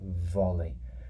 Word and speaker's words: volley: your native language is, that V sound can be quite difficult to pronounce. So let's just try it together. Volley. So if you put your lips together, it's kind of like a vibration sound with your lips.